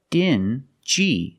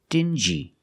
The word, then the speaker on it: dingy: These two words have the regular n sound, n, plus the j, like juice. Together, stingy. Together, stingy. Or dingy. Together, dingy.